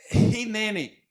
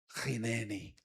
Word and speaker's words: Hineni: Essa palavra é hineni. Hineni, ela se escreve com H.